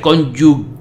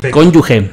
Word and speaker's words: cónyuge: y leal al ex que no se pronuncia cónyuge cónyuge si no cónyuge y se escribe cónyuge con ge a ok conduje cónyuge perfecto y la